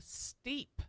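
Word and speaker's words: STEAP: see how it's spelled, it's S.TEA.P. So it's got T in the middle. Wow. Steep.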